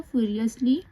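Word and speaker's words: furiously: एल हमेशा याद रखिएगा ओ यू एस एल को अस पढ़ा जाता है तो यह क्या हो जाएगा इसको ध्यान से आपको पढ़ना है फ्यू ये क्या हो जाएगा फ्यूरियसली उसके बाद इसे पढ़ेंगे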